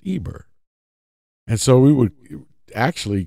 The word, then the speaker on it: Eber: letters and it's it's pronounced Eber today in in English we say Hebrew but in in the actual Hebrew language it's Eber and so we would